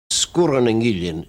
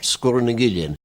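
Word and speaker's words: Sgùrr nan Gillean: Sgurreningillion. Sgur has a long U normally, but when you put in the glide vowel between the two consonants after it becomes short. Sgurreningillion.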